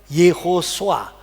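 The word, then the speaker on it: Yehoshua: Nah makanya Yehosua. Ini ini vokalnya ho, ini o-nya swa.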